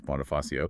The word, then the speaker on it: Bonifacio: And just a quick note for everyone listening on pronunciation, that's Bonafasio with a soft C like an S. So bony f ah and chavez with a hard sh as in Charlie.